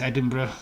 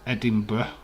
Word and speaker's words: Edinburgh: not over yet and it's edinburgh not edinburgh it's like americans say edinburgh well i want you